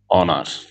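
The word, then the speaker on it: honour: আছে এই ধরনের আরো অনেক শব্দ আছে যেমন অনার অনার আওয়ার আওয়ার এরপরে এয়ার এয়ার ইটিসি এই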